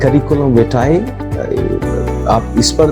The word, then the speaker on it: curriculum vitae: Next word is करिकुलम विटाए, एंड the right pronunciation is called the करिकुलम विटाए।